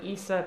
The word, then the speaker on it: Isa: And so her friend started calling her Issa Pizza. like, as a nickname so that I would say it in order on stream, like, that I would pronounce it correctly, and then I started calling her Issa Pizza.